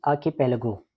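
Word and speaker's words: archipelago: Next word is आर्किपेलागो। Okay, pronunciation मैं दोबारा बता देता हूँ, आप गूगल पे भी सर्च कर सकते हैं।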